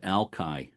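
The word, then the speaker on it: Alki: Um, Ali Point. Jeremy, help me. Is that the way you pronounce that? Uh, strangely enough, out there they pronounce it Alkai.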